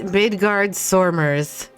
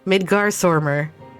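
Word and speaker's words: Midgardsormr: oh i get it so i'm supposed to pronounce the vowels in all the names as if they're there but they're not so he's ritra and it's midgard soremers midgarswarmer look at that well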